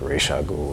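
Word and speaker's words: Ra's al Ghul: really literally i don't i never really liked ray shaw ghoul that just seemed weird a little pretentious for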